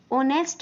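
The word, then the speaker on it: honest: बोला ही is dash ऑनेस्ट मैन यहां पर एच जो है वो है साइलेंट वो होता है साइलेंट तो इसलिए मैंने कहा ऑनेस्ट ऑनेस्ट तो साउंड किसका निकाल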